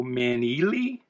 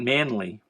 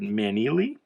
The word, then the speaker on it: Maneely: Now, I mispronounced this in a recent video and got corrected, so I guess it's Joe Maneely, not Manley, but Maneely.